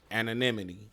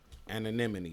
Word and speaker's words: anonymity: Anonymity. You know what I'm saying? Anonymity.